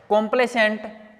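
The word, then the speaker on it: complacent: आपने ये होता है कंप्लेसेंट और कंप्लेसेंट कंप्लेसेंट और कंप्लेसेंट देखो मीनिंग में भी उतना ही फर्क है जितना स्पेलिंग में मैंने बोला प्रोनंसिएशन सेम है यह है सी ओ एम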